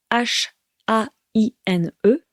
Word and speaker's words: haine: Et attention donc, la haine, ça s'écrit H-A-I-N-E, mais on ne prononce pas le H. On dit la haine, the hatred.